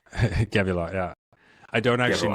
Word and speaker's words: Gevulot: And I imagine that led you to the path that you're on now, where you're building, help me pronounce it, Gevulot, right? Gevulot, yeah.